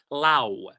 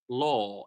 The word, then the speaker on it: law: I hear a lot of times people pronouncing it Lao. This is my mother in Lao, but it's pronounced law. It's a long O, right?